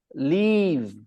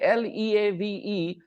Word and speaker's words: leave: If you are confused between the pronunciation, then remember the first one, Live, you pronounce it with soft tongue, live. Soft tongue, live. And when you say Leave, your tongue is hard, leave.